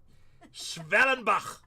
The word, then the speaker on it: Schwellenbach: Schwellenbach.